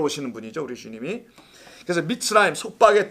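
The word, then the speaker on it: מִצְרַיִם: 성경에는 전부 다 미츠라임이라고 해요. 미츠라임.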